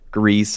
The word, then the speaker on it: Gris: risks last I checked I don't know grease or gear is a lot of it was grease but it's spelled it looks like Gris but anyways kind words life